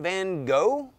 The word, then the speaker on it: van Gogh: So how do you say Vincent van Gogh?